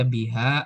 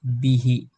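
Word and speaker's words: بِهِ: Kalau ketemu huruf ba kemudian ada H seperti ini enggak mungkin dibaca biha atau bihu, tapi harus bihi ya.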